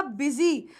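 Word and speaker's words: busy: रहे होंगे कि मैम यूएस वाई है आई की साउंड तो आ नहीं रही तो बेटा यहां पर बी को हम बी की तरह प्रोनाउंस कर रहे हैं इसीलिए यह वर्ड क्या हुआ यह वर्ड हुआ बिजी और याद रखना मैं बिजी नहीं हूं मैं बिजी हूं आई एम नॉट बिजी आई एम बिजी okay this word O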